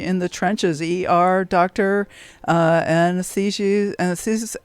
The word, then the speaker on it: anesthetist: ER, doctor, anesthetist. How do you say that word? Anesthesiast? Anesthetist, yes. Anesthetist. There we go. Got to get the accent on the right syllable.